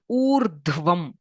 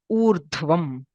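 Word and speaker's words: ऊर्ध्वम्: So this is Urdhvam. U. There is R, Dh, V. Rdhvam. Urdhvam.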